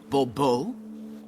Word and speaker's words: Bourbeau: The emphasis falls on the last syllable. Bourbeau?